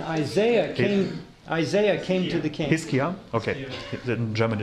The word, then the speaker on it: Hiskia: Hiskia, okay.